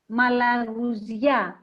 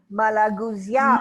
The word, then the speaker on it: Malagousia: And would you pronounce this for us slowly? Yes. So everyone can hear you. Malagousia. Malagousia. Malagousia. Malagousia.